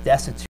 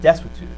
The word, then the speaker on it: desuetude: I always said destitute, but Scalia said destitute. Destitute, right? It's like a W that should be where the U is, so destitute.